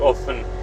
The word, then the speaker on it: often: Nat had there was someone asking if if you pronounce often without the T or if you pronounce it with the T. So Nat said often without the T. And basically I would say when you pronounce it without the without the T like often I feel like then there's two Fs. So like emphasize the F in the in there.